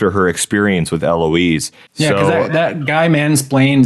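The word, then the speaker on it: Héloïse: Eloise. I think the H is silent because it's French.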